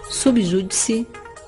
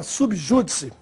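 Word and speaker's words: sub judice: Já a forma subjúdice, esta é uma forma latina e se escreve, sempre há registro, sub separado de júdice e sem acento, embora a pronúncia seja de proparoxítona.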